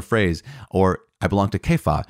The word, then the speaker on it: Kepha: or i belong to kefa i know it's c-e-p-h-a-s which is cephas right but kepha i think is the one acceptable pronunciation of the name of peter or i belong to